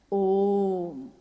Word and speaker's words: ओम: ध्वनि की आवाज थी अ उ म अगर एक साथ सुना जाए उसको तो उसकी आवाज गूंजती हुई ऐसी है जैसे हम बोलते हैं या उच्चारण करते हैं तो हम कहते हैं ओम है वो अ उ